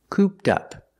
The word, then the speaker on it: cooped up: expression cooped up pronunciation cooped up the Ed is pronounced with a t sound link it with the next word up cooped up means